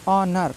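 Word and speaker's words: honour: silent है लिखा है ऑनर इसको नर नहीं पढ़ना है ऑनर पढ़ना है नेस्ट नहीं पढ़ना है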